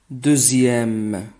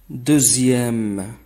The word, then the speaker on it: deuxième: Dans le nombre 18 et les mots dérivés de 2 et 10, la lettre X se prononce Z. 18. 18. Deuxième. Deuxième. Dixième. Dixième.